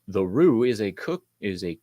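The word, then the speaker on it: roux: then I just stopped it was like Rue okay thank you I knew it wasn't rocks rocks so it bugs me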